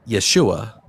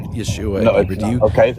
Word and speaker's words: Yeshua: name that still exists to this day is Yeshua. No, that's not true. Yes, that is how you pronounce the word Yeshua.